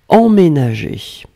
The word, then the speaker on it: emménager: Emménager, alors là vous voyez qu'il y a deux M, faites attention, ça c'est en général un petit peu la difficulté, c'est pour ça qu'on prononce en, le en c'est vraiment la nasale EM, ménager.